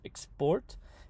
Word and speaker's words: export: Now, usually the second generalization is that 2-syllable verbs and prepositions will have the stress on the second syllable. So, for example, export for verbs, export, and for prepositions, into.